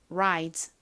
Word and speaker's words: rise: 만약 R이 아니라 L이었다면 light, light 이렇게 발음이 될 텐데요. R이 왔기 때문에 lie가 아니라 rie처럼 발음이 되죠. rise. 한국식으로는 rise라고 쓰고요. 자, 이 단어 발음 연습해 볼게요. rise, rise.